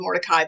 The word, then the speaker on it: Mordecai: It looks like it's spelled Mordecai, but it's actually pronounced Mordecai.